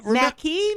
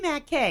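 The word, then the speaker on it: Mackey: No, it's Mackie. The joke is Mackay. Eazy-G pronounces it McKay for some reason. I said McKay too. No, you said I said Mackie. M-A-C-K-E-Y. Mackie. Right, it's Mackie. Mackie. Yeah, Eazy-G pronounces it McKay. I don't know why. Like mac and cheese, Mackie.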